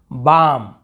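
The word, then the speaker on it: balm: बस पढ़ रहे हैं, बाम, यहाँ पे बालम नहीं पढ़ रहे, बाम यानी बाम, वो जो बाम लगाने का होता है।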